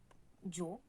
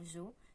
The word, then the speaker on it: yo: On dit juste yo, on peut dire aussi yo, on peut dire jo, on peut dire...